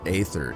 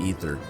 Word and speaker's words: aether: eighth um ethernet there's there's contention whether it's ether or aether if you listen to the game it's pronounced ether all right i think